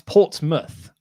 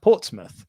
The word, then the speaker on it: Portsmouth: but it's not it's portsmouth so it's like so so muth was when portsmouth was established that was the way to say mouth was muth so it's pronounced portsmouth but it's spelt port's